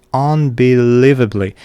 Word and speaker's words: unbelievably: So it's the third syllable is stressed. Unbelievably. And we have a secondary stress at the beginning of the word here. Unbelievably environ environment.